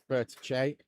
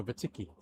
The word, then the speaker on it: Vertice: That's the Vertice. Vertice. Vertice. Vertice. Vertice. We could really wind them up and go Vertiki. Yeah, Vertice, I believe, is the pronunciation that we were told earlier on, Tom.